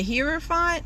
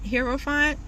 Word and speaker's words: Hierophant: read the card but i believe it's pronounced the hearer font hero font and basically that card